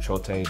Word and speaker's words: Chote: it is s-h-o-a-t-e uh both of which i believe have the long e at the end so yeah um that